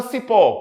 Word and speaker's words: cipó: Ok e a palavra Cipó quantas vogais duas quantas sílabas duas Olha o cipó demora mais tempo no pó isso significa dizer que